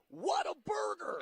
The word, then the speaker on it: Whataburger: want to always exclaim what a burger i feel like you have to pronounce it like if if you go through the drive-through and they go like hello welcome to what a burger and then you um